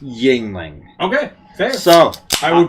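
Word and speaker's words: Yuengling: of the yingling and that's apparently how it's pronounced is yingling says i always say you rain we all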